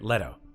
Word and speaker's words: Leto: our friend Jared Jared Leto Jared Leto Leto Leto right letto letto letto letto letto letto atres here we